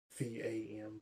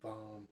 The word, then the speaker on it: VAM: And then you breathe the energy back up into the chakra below your belly button, the orange one, and you pronounce V-A-M, VAM.